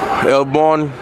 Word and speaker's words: El Born: He's not on payroll, but how do you pronounce this? But it's El Barrio born. Neighborhood born. Newborn. El Born.